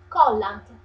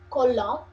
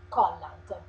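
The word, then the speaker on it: collant: okay I love because it's not an Italian word is a French word but with an Italian pronunciation is colant this kind of word is French so it should be colon but we we say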